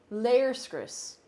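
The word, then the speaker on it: léirscrios: Chris wherever you're from layers Chris it's a long e sound layer script no not layer of Chris layers Chris I actually do know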